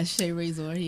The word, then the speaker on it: Shae Raysor: Now, am I pronouncing that right? Yeah, Shae Raysor.